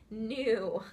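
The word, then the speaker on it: gnu: G and you says new okay that's the type of animal the G is completely silent G an G and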